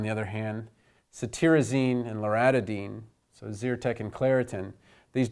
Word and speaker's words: loratadine: But in drug names, spelling is incredibly important because you pronounce loratadine the same as you pronounce famotidine. And the T-A-D-I-N-E, and the actual stem is A-T-A-D-I-N-E, sounds just like the tidine in the H2 blockers.